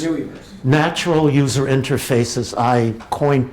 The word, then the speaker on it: NUIverse: you pronounce Nui verse newwie verse new verse natural user interfaces I coined post wimp that didn't catch on terribly well but Nee because it rhymes with gooey right nobody tells you